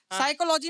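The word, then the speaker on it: psychology: नो में के silent, साइकोलॉजी में पी साइलेंट।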